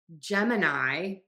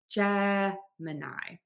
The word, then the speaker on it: Gemini: So I have heard several students say Gemini because the word mini is in there and it kind of looks like that with the spelling, but it's actually Gemini. Gemini, not Gemini.